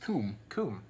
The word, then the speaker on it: cwm: never ever say anything when you see CWM you think you think oh this is this is this is celtic and therefore it's obviously pronounced kun kun the next thing which